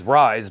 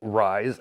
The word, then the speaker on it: RZE: And long story short, people didn't really care for the name, so now it is RZE, which I guess you could still pronounce as Rise, and you have a new logo.